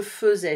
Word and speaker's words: faisais: Be careful of the pronunciation. Faire, je faisais.